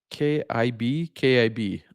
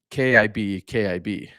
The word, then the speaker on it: Cibi: Pronounced uh, KIB. Okay, instead of CI, it's spelled CIBI, but it's pronounced KIB.